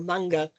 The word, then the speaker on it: manga: Manga, perfect, or manga, if you pronounce the Japanese properly.